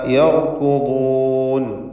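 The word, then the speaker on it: يركضون: മിൻഹ യർകുദൂൻ, ഈ പദത്തിൽ റാഇന് തഫ്ഖീം, അതുപോലെ ദ്വാദിനും തഫ്ഖീം നൽകേണ്ടതാണ്.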